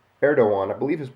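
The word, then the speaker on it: Erdoğan: turkey's president uh T erdogan I believe his name even though there's a g there is pronounced erdoan addresses local administrators in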